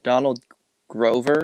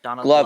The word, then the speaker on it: Donald Glover: I want to say his name is Donald Grover, Yes, if I'm Donald correct. Glover. Donald Glover, Glover.